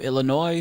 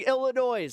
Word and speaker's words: Illinois: Stop adding the no more s when pronouncing Illinois. It's like it's annoying and you annoy me when you mispronounce Illinois.